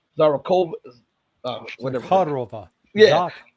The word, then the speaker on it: Zakharova: So he is saying in words, and I remember hearing the foreign ministry spokeswoman, I can't pronounce her name, Zarakova, whatever. Khodorova. Yeah. Zakharova.